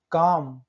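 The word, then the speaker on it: calm: काम, एम के पहले एल।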